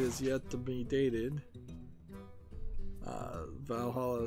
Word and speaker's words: VA-11 Hall-A: Valhalla is spelled VA-11 Hall-A.